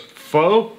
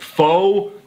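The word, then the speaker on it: phở: as pot of foe the Vietnamese eventually shortened it to Just Pho meaning people like me who go around calling it foe are in fact objectively pronouncing It Wrong by any standard have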